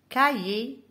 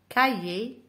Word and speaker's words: cahier: Cahier. هنا الاش وحدها نطقها بلي. Cahier. Parler.